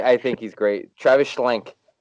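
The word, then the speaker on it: Schlenk: think he's great travis schlink i think that's how you say his name schlank s-c-h e-n-k um yeah absolutely um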